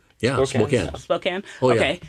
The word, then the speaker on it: Spokane: church, and it's, I don't know how to pronounce it, Spokane. Yeah, Spokane.